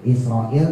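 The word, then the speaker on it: إسرائيل: penyakit itu entar ketemu israil gitu lagi. Israilat gitu i-nya panjang israil. Israil panjang isroilmati.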